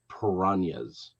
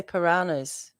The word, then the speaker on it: piranhas: Way we say piranhas. Well, we say piranhas up here, but I live with the Colombian. Oh, okay. So they're piranhas. Okay, fair enough. Yeah, because that is the correct way to pronounce it.